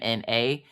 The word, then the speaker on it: Minna: Except for in the book, I think it's spelled Minna, but her dad just decided that he wanted to Mina. So it looks like Mina, but it's Minna. It's Minna.